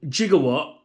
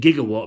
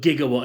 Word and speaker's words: Gigawatt: out of the way and here is right jigawatt is what they say in the movie and that's what his name is jigawatt but I will pronounce it gigawatt because that's the correct pronunciation I don't know